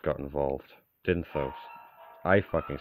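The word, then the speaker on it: Dyntos: The moment fucking King Dintos got involved. Dinthos. I fucking said his name wrong twice, didn't I?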